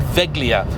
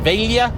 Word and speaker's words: Veglia: of this brand before I think I said veglia um is it veia it's it's probably something as veia I don't know veia veia not veia idot anyway Let's ignore all